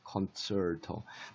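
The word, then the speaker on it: concerto: 그러면 요 이름을 요거를 갖다가 우리가 콘체르토, 치 발음이, 영어에서는 원어민들 발음이 치 발음보다는 이 발음이 강한데, 콘체르토.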